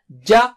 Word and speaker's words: ج: Touch the middle of the tongue. That's how Arabic Jim is. To the palate or roof of the mouth. So repeat after me 3 times. Ja.